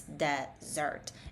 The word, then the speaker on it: desert: Um then pay attention to desert, you know, and kind of highlight where the stress is. So it's desert and maybe make a note that it should be like the Z sound also to survive.